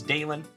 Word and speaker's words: Dalen: here before welcome back my name is dalen d a l n like Dale plus n there is a reason